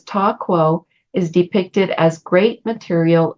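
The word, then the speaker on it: Ta Kuo: Ching name that's given for Gate 28 is Ta Quo, and it's spelled T-A, and then the second word K-U-O, Ta Quo.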